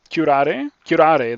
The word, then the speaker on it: curare: I looked up how to pronounce this. I think it's something like Curare. Curare, that's how it is.